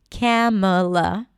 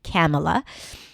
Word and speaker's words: Kamala: Camela. That's how it's pronounced. Camela.